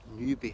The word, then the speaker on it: Newbie: It's actually interesting, that house there is called Newbie House, but it's spelled N-E-W-B-A-Y, when actually the settlement of Newbie itself, I don't know if you call it a hamlet or anything, but it's spelled N-E-W-B-I-E.